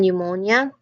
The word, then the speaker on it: pneumonia: It also functions as a silent letter at some words, like psychology and pneumonia.